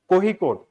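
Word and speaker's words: Kozhikode: And recently कोहिकोड, इसमें कोझिकोड लिखा जाता है, but like we pronounce it एज कोहिकोड.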